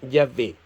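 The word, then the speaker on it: Yahvé: en donde viene Jehová los hebraicas han llegado al acuerdo general de que la pronunciación original debe haber sido Ya ve en el Nuevo Testamento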